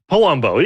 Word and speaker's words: Palumbo: Am I pronouncing your last name correctly? I always get very uncomfortable when I'm not sure. Palumbo.